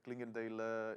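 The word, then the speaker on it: Clingendael: patiently waiting guest here franz paul from the clinkendale institute am i pronouncing it correctly very good nikos thank you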